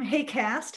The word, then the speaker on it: HAQAST: talking about our team hey cast as we pronounce the funny acronym um this is a